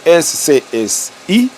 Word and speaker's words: SCSI: On écrit disque SCSI, mais on prononce SCSI.